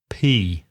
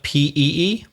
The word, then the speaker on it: pea: Pea. P-E-A. Pea or peas. Not P-E-E? No, that's to go to the toilet, Reza. To urinate would be P-E-E, wouldn't it?